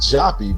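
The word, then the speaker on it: Joppa: is spelled j o p paa but it's pronounced jappy because one of the original spellings was j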